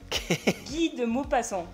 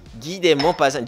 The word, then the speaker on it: Guy de Maupassant: Guy de Maupassant. Guy de Maupassant. Yo antes lo decía Guy de Maupassant.